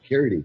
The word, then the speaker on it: Carradine: I'm pronouncing that wrong. That's right, David Carradine.